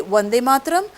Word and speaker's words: Bande Mataram: bande mataram why because in bengali we don't have the letter v even rabindranath in bengali they say ravindra nattegor no they say because they pronounce v as b so we will say wande mataram but otherwise they might write bande mataram so whatever is written